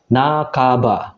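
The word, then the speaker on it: 半ば: Contoh yang pertama, nah kalau kanjinya ada huruf ba muncul ya, minasang, dia akan dibaca nakaba, bukan hang ya minasang, tapi nakaba, yang artinya juga setengah atau separuh.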